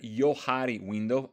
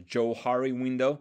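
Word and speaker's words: Johari window: slide here we see the Yari window often mispronounced as joari window this by the fact that it comes from the name of yoseph Luft and Harrington inham okay so you might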